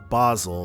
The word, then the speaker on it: Basel: Basel, that's how it's pronounced.